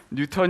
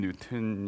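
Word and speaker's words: Newton: 있습니다 그거 누구가 책임자인 지 모르겠는데 재발을 고쳐주세요 뉴턴 이라고 한 것은 예를 들어서 미국의 옛날 존슨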